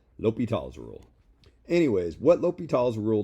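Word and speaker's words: L'Hôpital: knew in grad school apparently the way you say this is lope e tall l'hopital's rule anyways what l'hopital's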